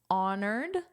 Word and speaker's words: honor: So you must pronounce the H except for the words where there are uh exceptions honored.